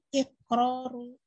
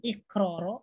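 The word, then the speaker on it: إقرارُ: Ketika disusun, isim ini akan menjadi iqraru asolatil bahsi. Okay. Pertanyaannya, mengapa kita membacanya iqraru, bukan iqroro atau iqrori?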